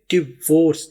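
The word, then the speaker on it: divorce: आई को प्रोनाउंस नहीं किया जाता। यहां पर आप ऐसे ही महसूस करें जैसे आई मौजूद ही नहीं है। सिर्फ डी वी ओ आर सी ई है। तो इसको बोलेंगे डिवोर्स। देखिए डी और वी को मिलाना है। डिवोर्स आपने डाई नहीं बोलना। आई को समझना है। आई यहां पर है ही नहीं। साइलेंट है। तो ये बन जाएगा डिवोर्स।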